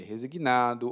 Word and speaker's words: resignado: um então pode ser resignado ou resignada E você tá percebendo a minha pronúncia aí eu falo resignado algumas pessoas em outros países vão dizer resignado especialmente os portugueses né mas